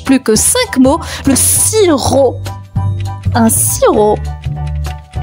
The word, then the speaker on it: sirop: Le sirop. Un sirop. Et le sirop les amis s'écrit s i r o p. La lettre muette à la fin c'est un p sirop.